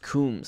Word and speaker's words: Coombs: And by the way, last name pronounced Coombs. I pronounced it Combs in the episode. I think it's really supposed to be pronounced Coombs, as in, like, rhyming with tombs.